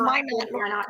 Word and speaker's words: Minot: It's pronounced Minot.